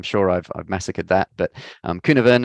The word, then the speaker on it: Cynefin: And there's a framework here, which is, it's actually pronounced Cynefin. It's a Welsh word. So don't worry, sorry, apologies to my Welsh colleagues and Welsh friends. I'm sure I've massacred that. But Cynefin, it's a technique that